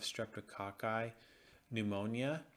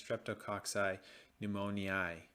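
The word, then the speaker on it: Streptococcus pneumoniae: capsule encapsulated form of streptococci pneumonia can pre can actually cause pneumonia sorry that is I mispronounce that that's streptococci pneumoniae next we also have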